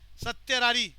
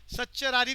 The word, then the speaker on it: certiorari: सत्यारारी को प्रोनाउंसिएशन में हम सच्चरारी भी बोल सकते हैं। प्रोहिबिशन, कू वारंटो। अनन्या रिपीट करना, 5 type of Ritz. habeas corpus, mandamus, certiorari, prohibition, quo warranto.